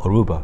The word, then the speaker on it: Aruba: 그래서 여기서도 역시 아루바가 아니고 Aruba. 들어서 아시겠지만 루바라는 단어의 액센트는 Aru, R-U 거기에 있기 때문에 Aruba 이렇게 표현한 거예요.